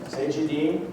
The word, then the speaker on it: Cegedim: It's really difficult to pronounce. Cegedim, and that's all I'm going to say about it.